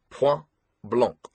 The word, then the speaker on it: Point Blanc: It's pronounced Pu Blancc. He spoke the words with a French accent.